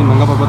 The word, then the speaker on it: Nanga Parbat: भाई इसका correct pronunciation है नांगा पर्वत, ठीक है ठीक है ठीक है। लोग इसको नंगा पर्वत कहते हैं, बोलते हैं नेकेड माउंटेन्स की वजह से।